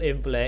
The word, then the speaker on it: imply: You can, but remember the stress is on the second syllable fly. It rhymes with fly, high, and dry.